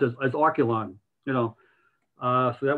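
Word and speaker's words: Archelon: have the you know to say how it's pronounced as oculon you know uh so that was one of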